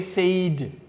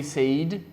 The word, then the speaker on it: said: Don't say said. Okay? Some people say said. Say and said. Said. Like when you are sad. Okay? It's the same pronunciation.